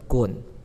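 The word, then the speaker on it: 丨: 再来第二个部首就比较难念一些了，是一个直话，它念成滚。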